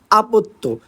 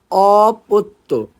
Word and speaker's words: অপত্য: কি আমাদের অপত্য কোষ মনে রাখতে হবে নট আপত্য উচ্চারণ হলো অপত্য অপত্য কোষ ঠিক আছে তাহলে যে